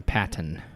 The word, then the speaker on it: Paton: phonetically please she said like a good old pat on the back say it with an e but spell it with an O I think it's mostly